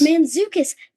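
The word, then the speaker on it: Mantzoukas: Mendoza I think how I don't Jason manukas manukas that's how you say his name okay it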